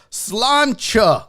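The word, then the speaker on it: Sláinte: Is it Salante or Salancha? Cilantro? How do you say that? I don't know. There's that whole toast, which I guess means good health or whatever. I don't know. I'm actually part Irish. It's Scotch. Slancha.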